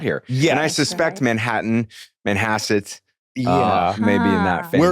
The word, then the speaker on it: Manhasset: Manhasset. Manhasset. Well, when you pronounce it, I now realize it sounds like a bunk version of Manhattan.